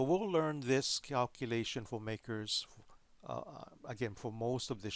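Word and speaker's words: MACRS: called modified accelerated cost recovery system or it's pronounced makers I remember before this modify we had just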